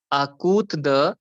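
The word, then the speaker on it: à côté de: The pronunciation is A means a, COTE is kut, because T को हम त बोलते हैं, and DE is the.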